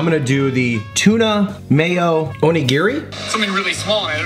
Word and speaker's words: onigiri: do the tuna mayo onigiri. Something really small and I noticed that onigiri there, so I was like, onigiri. Onigiri. You gotta say it like fast.